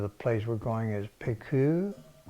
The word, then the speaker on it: Pleiku: I think the name of the place we're going is Pleiku, pronounced Pleiku.